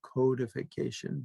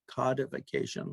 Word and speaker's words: codification: and their later codification we canadians say codification but americans say codification like as in the word cod fish vacation codification their codification of